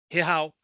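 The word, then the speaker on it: zajal: ser uma produção moçárabe, a pronúncia dela é Rehal, já que o Z você tem aquele Z que ele se pronuncia como um H de home, e ele tem aquele J que é pronunciado em espanhol, tipo Juan, por exemplo.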